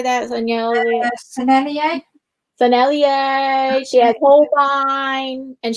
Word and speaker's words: Sennelier: Sennelier.